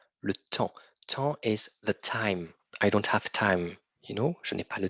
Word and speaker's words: temps: un travail j le temps le temps time je n'ai pas le temps on ne prononce pas le S et on ne prononce pas le P non le temps le